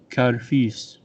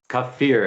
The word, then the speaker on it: kafir: payment for fighting against Kharif and Artsakh, and an extra $100 for each beheaded Kharif. Kharif, often translated as infidel. Kafir, it's pronounced.